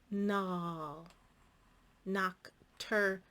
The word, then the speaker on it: nocturnal: cturnal nocturnal nocturnal nocturnal what happened with that a you guessed it it is another schwa sound the a is in a non-stressed syllable and we get a little lazy with it's just easy to say nocturnal than it is to say nocturnal nocturnal all right it's just lazy it's just easier it just makes us